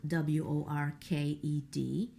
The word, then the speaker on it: worked: in them words like worked that are spelled w-o-r-k-e-d you their their Ed is in the spelling but we don't hear it we only hear a t sound worked and then there